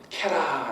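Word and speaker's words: קרא: 그리고 외쳐라 이거는 캐라 라고 발음합니다.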